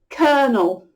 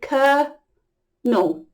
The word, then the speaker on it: colonel: Now, I can see why people find this difficult to say, because this spelling is not friends with how you say this word at all. Kernel. I would ignore it and just say kernel.